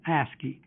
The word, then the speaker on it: ASCII: oldest such character encoding scheme is called ASCII pronounced ASCII husky stands for American Standard code for information